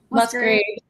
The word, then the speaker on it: Musgraves: Am I gonna say her name wrong? Casey Musg Graves. Musgraves.